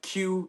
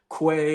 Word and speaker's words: Que: The best way to reach me is on TikTok as Chef Q, and Q is spelled QUE. It's not Chef Quay or Chef Gay. It is Chef Q.